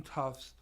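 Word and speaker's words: Tufts: the life of him cannot pronounce tough okay it was like what's your son go to school tough no toughs tough not toughs so I said finally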